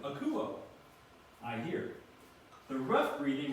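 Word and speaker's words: ἀκούω: you can pronounce that akuo and it's got a the acute accent mark so it goes up with it akuo I hear the rough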